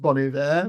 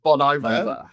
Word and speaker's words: Bon Iver: So, um I know it's pronounced bunny there, but if at any time I call him Bon Ivor, um as my partner tells me all the time, it's wrong.